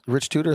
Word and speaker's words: Tudor: Rich Tudor, that's pronounced?